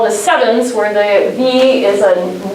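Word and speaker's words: CEvNS: like to call the sevens where they he is a as a new and it's pronounced like seven so please spread this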